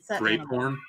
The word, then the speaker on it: Graphorn: A Zawu, a Niffler, an Akami, a Graphorn. It's actually pronounced grape horn.